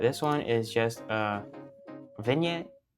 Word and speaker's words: vignette: one is just a vignette. I don't know how to say it. Vignette. Vignette. Okay, yeah, that's how you say it.